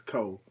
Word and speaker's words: Choshek: It's a lot of things that KoolAid or Choshek. They say that the CHO is not pronounced Cho in Hebrew. It's Ko.